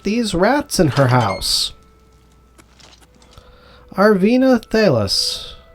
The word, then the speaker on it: Arvena Thelas: And we're going to come in here and chat with Arenathelus. Find out what is happening with these rats in her house. Arvina Thalis, I said your name wrong originally.